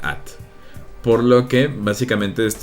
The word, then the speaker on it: @: mi computadora en inglés el ara se pronuncia at por lo que básicamente